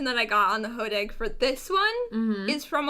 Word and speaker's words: hodag: be a hoax is the hodag the what i believe that is how it's pronounced i have not heard it said out loud anywhere but it is spelled h-o-d-a-g so i'm going to call it the hodag and it stems from